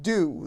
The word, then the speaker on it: Doux: And then on the back, it tells you, it's like, pronounced Dew, the Dew, French for soft, smooth, or sweet.